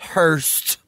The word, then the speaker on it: Hearst: Ça se prononce Hearst.